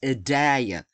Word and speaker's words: Idalia: They make it so it's hard to pronounce, but this is Idalia. Idalia, that's what it is.